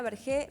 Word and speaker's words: Bergé: Está con nosotros Bergé, presidenta del Colegio Profesional de Psicopedagogos. Espero estar pronunciando bien tu apellido.